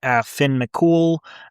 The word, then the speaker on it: Finn McCool: Anything having to do with your Irish heroes, people like Cuchulainn, probably butchered that, Cuchulainn, I think is the right way to say it. Cuchulainn, people like Finn McCool, people like St.